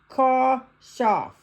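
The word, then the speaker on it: כשף: The word translated witch is sorceress, is Makashepha, from the root kashaf, pronounced kashaf.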